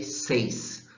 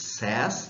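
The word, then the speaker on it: says: have the third person then you have cess yeah don't say seis don't say Saint it's sass third person or sad in the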